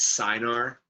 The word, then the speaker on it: acinar: 99% of your pancreas is made up of these acinar cells, sometimes pronounced as cynar cells, but these acinar cells are the cells that produce digestive enzymes.